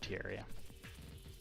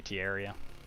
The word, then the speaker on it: Terraria: I say Terraria because I think of terrarium, you know. So I kind of pronounce it like that.